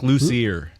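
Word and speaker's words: Luzier: right Charlie L ler it's like luser Ray luer okay ler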